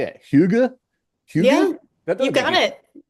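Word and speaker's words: Hygge: Huga? Yeah, you got it. Huga.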